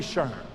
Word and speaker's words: SHRM: This is not your grandma's Shurm. This is the 21st century Shurm.